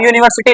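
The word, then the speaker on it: university: लिख लो ब छोड़ो यूनिवर्सिटी में पहला लेटर क्या आया या तो य किसको रिप्रेजेंट करेगा वा को कि य को वा को वाई क्या है वल है कंसोनेंट है तो इसलिए यहां पर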